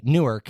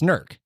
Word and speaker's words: Newark: go to go to Newark and and they don't they just don't say it right." And I'm like, "Right, it's Nerk."